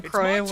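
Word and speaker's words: Crois: Always assume silent s on the croy as well.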